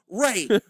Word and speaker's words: Rhys: Spell it for me. House of the Dragon. This is Spell it number for 2. me. Ray, just like it sounds. RHYS. Ray.